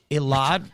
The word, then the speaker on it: Elad: Listen, Elad rhymes with Mossad.